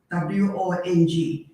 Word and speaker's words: Wong: It's Cantonese. Wong is Cantonese. Yeah, I know, but see, that's quite confusing because in Mandarin, Huang is spelled differently.